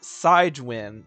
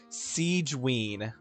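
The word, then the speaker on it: Sigewinne: want to guess okay how do you think this character's name is pronounced I bet you wouldn't guess you're probably thinking like oh uh swin or like something like that right or uh sigwin no no no you know how you pronounce this character's name Siege I kid you not it is Siege right oh my heyo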